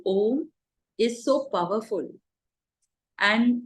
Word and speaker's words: om: your body the syllable om is so powerful and the correct way of chanting om is a u n Swami says when